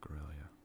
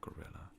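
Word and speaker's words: Guerrilla: Faction gorilla or gorilla I never knew how to pronounce gorilla goria I was always thoughted was pronounced goria but some people noted me it was pronounced gorilla but nonetheless it's a I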